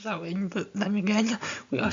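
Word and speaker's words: Samhain: accent um and so I'll be using the word Sam hay although strictly um well at least we think it should be pronounced so in but then again we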